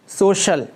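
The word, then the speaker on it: social: सबसे पहला वर्ड है सोशल, सामाजिक। यहाँ सी के बाद आई ए है, मैंने इसे श की आवाज़ में पढ़ा।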